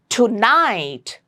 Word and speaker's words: tonight: Tonight, you stress on night, on the second part of the word, tonight, and make sure it's T and not T, not tonight, it's tonight.